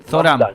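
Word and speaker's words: Zohran: Során Mamdani es su nombre. Exactamente. Con Z. Así que Zoran sería Zorá.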